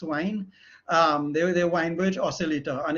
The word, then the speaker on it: Wien: Well, actually, if it's German, you would pronounce it Wein, but it's actually Max Wein.